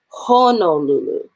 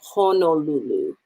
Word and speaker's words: Honolulu: like we've talked about honolulu right like the o's are at our ah would be spelled h-a-n-a-l-u-l-u as opposed to what it's really called which is honolulu right o is how